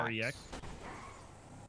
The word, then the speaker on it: Rex: R-E-X. Rex. Okay, Rex. Well, my full name is Rexarius, but everyone just calls me Rex. Rex searches? I don't know. Like the T-Rex.